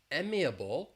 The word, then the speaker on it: amiable: The stress is on the first syllable but that beginning vowel sound is different. So we have emiable or amicable.